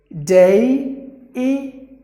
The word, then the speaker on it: deity: Like this letter E alone is pronounced like A. And then there is another I. There are 3 sounds. DEITY, DEITY, DEITY, DEITY.